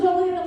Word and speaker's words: Joliet: I have a perfect combination of glass and trash cuz I'm from Joliet, Illinois. Joliet. I can't even say it right. Joliet, Illinois. And we call it the toilet because it rhymes with toilet.